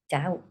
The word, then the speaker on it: doubt: Ah, doubt.